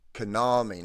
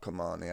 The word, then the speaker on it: Kanami: I've got I've been saying it wrong. Sorry. It's Konami, not Kamani.